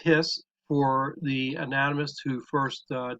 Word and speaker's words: His: known by the way as the bundle of hiss it's actually pronounced hiss for the anatomist who first described it but